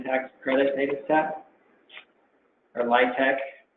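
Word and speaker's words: LIHTC: the low-income housing tax credit data set or lytec pronounced and so here are the local light tech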